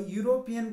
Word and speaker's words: European: an unusual problem a european country here european means it's not uh it sounds like you and you start with y and that's why it